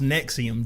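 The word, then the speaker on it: NXIVM: saw in multiple articles it is pronounced nexium just like the antacid piggybacking on in a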